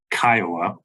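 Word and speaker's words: CCIOA: We provide information to homeowners regarding their basic rights and responsibilities under the Colorado Common Interest Ownership Act, commonly pronounced by its initials, KIOA.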